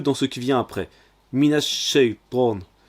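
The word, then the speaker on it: من الشيطان: Minash shaytan, minash shay. On a mina avec le a qui entre dans le son qui vient après. C'est un shin, un sh accentué. C'est une double consonne, donc c'est une shadda. Alors on insiste dessus. On prononce alors minash shaytan.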